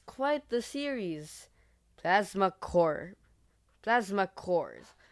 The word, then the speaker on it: Corps: Plasma Core. Plasma Cores. But I pronounce it Plasma Corpse because that's how I've been pronouncing it since grade 2, even though it's wrong.